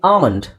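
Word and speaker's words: almond: ಕೊಡಬಹುದು ಅಂದರೆ ಐಪಿಎ A okay now let's see ಆಮಂಡ್ first word ಆಮಂಡ್ okay so ಇಲ್ಲಿ ಆ ಅಂತ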